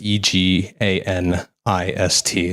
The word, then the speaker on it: eganist: Uh mine is E G A N I S T. So it's pronounced eganist.